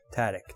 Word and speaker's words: Tadych: Tadych, that's how you say it.